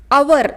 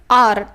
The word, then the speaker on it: our: इसका बहुत लोग अवर ऐसे उच्चार करते हैं, लेकिन इसका करेक्ट उच्चारण है आर, OUR आर।